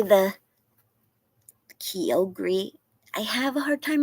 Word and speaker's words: Kyogre: Tina, how did I tell me again how you say the Kyogre? I have a hard time remembering how to pronounce it. You told me before, and I always want to say it wrong. Kyogre?